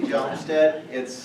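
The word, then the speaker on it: Hjalmstead: Well, my name is Jalmstead. The H is silent.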